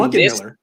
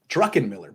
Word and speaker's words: Druckenmiller: San Francisco traded Jim Druckenmiller for a 7th-round pick that wound up being Druckenmiller? Is that not how you say it? No. How do you say it? Druckenmiller, but I like Drunkenmiller better.